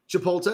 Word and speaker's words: Chipotle: we're waiting officially for the first report from Chipotle.